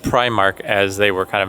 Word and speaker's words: Primark: so they just said Prime Mark as they were kind of making their announcement so I do think I'm saying it right Primark not premark time to Trek through